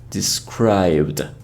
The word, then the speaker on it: described: So although we write it like describe it, the E sound is omitted. So we should say described.